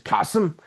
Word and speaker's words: Qasim: For those of you that don't know, if this is your first time catching this, my name is Qasim. Rhymes with awesome for reasons that you will soon discover yourself.